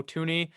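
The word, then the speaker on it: Thuney: million dollars to joe tooney i believe it's how you say his name it's not spelled like that that's how you say it to the chiefs 80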